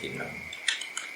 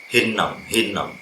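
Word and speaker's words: Hinnom: Jadi dages forte, dia double konsonan, pengucapannya harus ada jeda, ada hentinya. Hinom, bukan hinom tapi hinom, double N gitu, untuk menunjukkan dia bunyi yang kuat.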